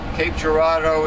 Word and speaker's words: Cape Girardeau: father was an attorney Cape Girardeau is not spelled it's spelled like a like a French word Gerardo like it was a d-e-a-u yes I'm like yes